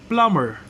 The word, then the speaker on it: plumber: with silence B sound read the following words with silent B sound that means you're not going to pronounce but examples of this words Bom Bom plumber plumber climb climb lamb